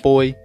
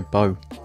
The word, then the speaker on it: Bou: And I just want to give a quick shout out to commenter Camboozle6, who did allow me to know that it's pronounced Bou and not Boy.